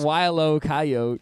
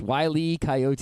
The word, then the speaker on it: Wile E. Coyote: It's not Wile-O Coyote. It's Wile E. Coyote.